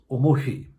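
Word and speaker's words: おもひ: the poem was written, the final omoi would have been pronounced omoFi, and Fi, was homophonous with the word for ‘fire’ Fi, or hi, as it is now.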